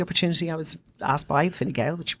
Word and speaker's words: Fine Gael: I was asked by Fine Gael, which you pronounced fantastically.